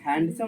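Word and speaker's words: handsome: ठीक है लड़का रहेगा तो हैंडसम हैंडसम नहीं होता क्या होता है हैंडसम will be silent okay तो हैंडसम इज the correct pronunciation okay so ही इ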